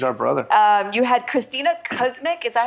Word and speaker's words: Kuzmic: You had Christina Kuzmic. Is that how you say it? Kuzmich.